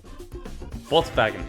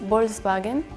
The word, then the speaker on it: Volkswagen: Like when I hear the other pronunciation, it's kind of funny because it's like, for me it sounds like a W in the beginning. So it's not like, oh, like people, like Volkscar. It sounds like Volkscar, so like wolf kinda.